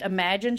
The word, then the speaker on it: Amajen: whatever you let your girl know and it's pronounced imagine Studio which is just a play on spelling